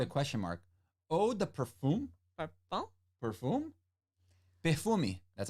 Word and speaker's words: parfum: We don't say the M like parfum. So how do you say it? Parfum.